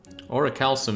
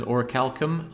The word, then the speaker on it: Orichalcum: Orichalcum is pronounced with a hard C. I have heard it said as Orichalcum. I don't like that. I think it should be a soft C, Orichalcum. So that's what I say.